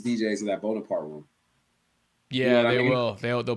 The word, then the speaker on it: Bonaparte: How do you pronounce that back room? Bonaparte.